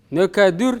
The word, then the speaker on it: нөкәдір: Нөкәдір. Нөкәдүр, нөкәдір пишется.